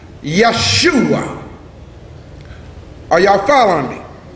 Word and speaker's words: Yeshua: So actually the word Jesus was pronounced Yeshua. Are y'all following me? In the Hebrew it's pronounced Yeshua.